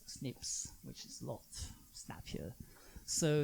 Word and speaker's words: SNP: find between people there's something called SNP which biologists pronounce snips which is lot happier